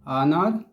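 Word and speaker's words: honour: का प्रयोग होता है क्योंकि यहां एच जो होता है साइलेंट होता है जैसे एच दिया है ना तो जो जो पढ़ा लिखा नहीं होगा इसको नर पढ़ेगा लेकिन यह वास्तव में य एच क्या होता है साइलेंट होता है और इसको नर पढ़ा जाता है वैसे इसको भी अंश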